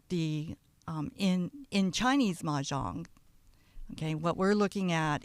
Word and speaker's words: Mah Jongg: Maang ma jang.